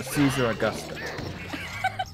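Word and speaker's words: Caesaraugusta: It's not a Z sound, it's a C. Caesar Augusta. I have founded the city of Caesar Augusta.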